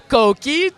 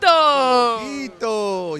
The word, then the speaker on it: Coquito: going to tell us, Tommy, make sure I pronounce this right, Coquito. Coquito.